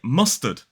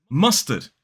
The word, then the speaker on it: mustard: word like mustard mustard so even in a word like mustard that s mutates the T into more of the sound now you could say mustard but it sounds a bit forced in fact most native speakers would just say mustard mustard so in this